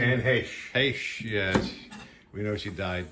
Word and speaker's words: Heche: Is that how you pronounce her last name? Anne Heche. Heche, yes.